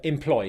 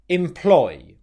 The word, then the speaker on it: employ: Employ, employ, employ. Okay, just make sure that when you make this word, the first syllable is unstressed and the second syllable is stressed.